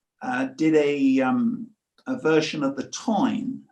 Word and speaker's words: Táin: And then I came across an Irish poet, Kinsella, who's did a version of the Táin. Again, Irish pronunciation Táin. In English, we would say Tain.